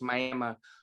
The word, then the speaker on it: Miami: Spelled Miami, but pronounced Miami, Oklahoma.